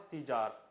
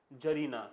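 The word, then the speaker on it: tsar: First of ऑल the pronunciation is जार, नॉट सीजार और सीजर।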